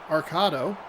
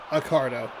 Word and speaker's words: Accardo: Jeremy Arcado. No. Arcido. Jeremy. Accardo. I put an extra A in there.